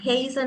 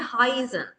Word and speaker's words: heißen: I කියන එක දැක්කහම I mine mine මෙතනත් එහෙමයි. Heißen නෙමෙයි Heißen.